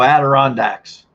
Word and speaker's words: Adirondack: It's actually the Adirondack Mountains pronounced / ed.r.n.dek.ma.n.t.n.z/ in American English. There you go, Adirondacks.